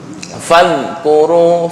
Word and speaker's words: فاذكروا: Ujung lidah dengan ujung gigi atas. Ini untuk zal. Fadhkuru ya. Bukan fadhkuru, fad condong ke dal. Bukan juga ke sin sama za, enggak. Fazku, nah itu kan condongnya ke za sama sin.